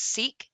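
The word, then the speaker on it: Sikh: the inclusion of a i think it's pronounced seek soldier and sam mendez's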